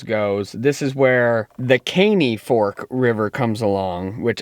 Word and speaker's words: Caney: ranger did say uh the canai i don't know if it was just the way they pronounced it maybe they weren't from around here or you know they had a little bit of an accent didn't sound like american honestly they pronounced it that way so i was pronouncing it that way so it's the caney fork river for all those grammar